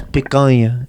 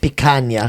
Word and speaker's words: picanha: It's picanha. It's not picanha.